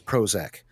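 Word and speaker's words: Prohozac: He's like, "My name is Prozac. The ho is silent."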